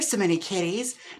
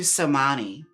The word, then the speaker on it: So Many Kitties: I was calling you Somani until Ernesto pointed out that their name is So Many Kitties.